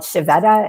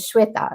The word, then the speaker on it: Shveta: you know so like I've been called chevetta and my name is shweta and it's not hard